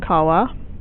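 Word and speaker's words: cavā: they hide and um so here Nu and Kawa are both ablative that's a long a on Kawa yeah um specul is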